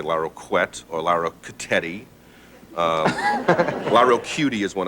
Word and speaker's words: Larroquette: Now you say it. Larroquette. Larroquette. 3 syllables.